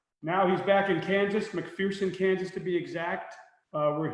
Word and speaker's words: McPherson: the old joke is a lot of people think McPherson is pronounce McPherson but they're running the running joke in this our hometown here is that there's no fear McPherson so it's McPherson that's good for you cuz McPherson coming from st.